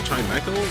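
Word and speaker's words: Chimecho: Okay, so Bax Caliber and uh Chimeco, that's how they pronounce it.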